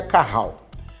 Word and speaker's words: Cajal: células de Carral cajal tá com J que pronuncia Carral essas células fazem o